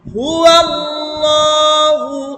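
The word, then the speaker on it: هُوَ ٱللَّهُ: হ্যাঁ, কুল হুয়াল্লাহু আহাদ। কুল, কফ লাম পেশ, কুল এটা একটা শব্দ। কুল অর্থ বলুন, আলাদা একটা শব্দ। হে নবী আপনি বলুন। হুয়াল্লাহ একসাথে বলতে হবে, হু আর আল্লাহ একসাথে।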